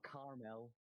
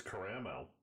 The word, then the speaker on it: caramel: Please tell me you at least pronounce caramel correctly, because there are 2 A's in that name. It's not caramel. There's a second A. Yeah, for sure. It's caramel. User.